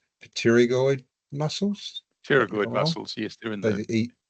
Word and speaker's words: pterygoid: muscles such as the – I'll struggled with pronounce this – 'pterygoid muscles'.